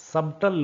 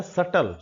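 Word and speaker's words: subtle: सटल [नाक से की जाने वाली आवाज़] सबटल नहीं है। बी के बाद टी अगर स्पेलिंग में आता है तो वहां पर वो ब नहीं बोला जाता है। एम और बी का केस हमने पहले डिस्कस किया है। ये शब्द है सटल।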